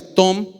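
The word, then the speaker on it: תום: En el hebreo, la palabra integridad significa, o se pronuncia tom, así T-O-M.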